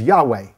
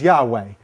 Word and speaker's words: Yahweh: as the tetragram um one way that you think it is to be pronounced is Yahweh the four the four letters this this and this and so they think that the pronunciation was Yahweh because of the it